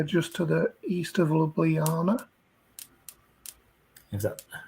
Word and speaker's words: Ljubljana: So yeah, just to the east of Ljubljana. Is that how you say it? That is how you say it, yeah, Ljubljana.